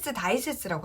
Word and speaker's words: 大切: 우리가 근데 주의하실 점은 뭐냐면 발음을 할 때는 타이세츠라고 잘 안 하고 다이세츠라고 하거든요.